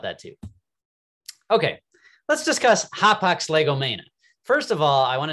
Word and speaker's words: hapax legomena: to pronounce this in Greek, this would be Hapax legomena. And if you were to pronounce it in Greek, the singular form, so that Hapax legomena is plural, Hapax legomenon is the singular form.